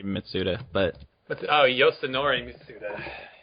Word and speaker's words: Mitsuda: like y Yi mitsuda let's see i' say mitsuda but what's oh Yori mitsuda mitsuda yeah I